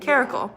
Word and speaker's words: Caracal: And you pronounce it like Caracal.